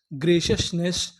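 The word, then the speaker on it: graciousness: जी आर ए इसे क्या पढ़ेंगे? ग्रे। सी आई ओ यू एस सस। तो इतनी मीनिंग क्या बनी? ग्रेशियस। एन E double S नेस। पूरी मीनिंग क्या बनी? ग्रेशसनेस। ग्रेशियसनेस। ग्रेशियसनेस।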